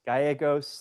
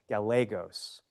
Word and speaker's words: Gallegos: And we can call him different things, Gagos. That's probably closer to how his ancestors would have wanted his name pronounced. Um, but the more I did research on him, the more I realized he probably went by Galagos, Southern California.